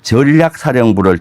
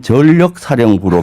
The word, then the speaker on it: 전략사령부: 그거 그 국정과제 중에 전략사령부를 창설하는 국정과제가 있습니다. 예, 예. 전략사령부. 근데 그 윤석열 대통령의 발음은 전력사령부로 발음이 발음. 들렸어요. 근데 전력사령부와 전략사령부는 완전히 다른 개념입니다.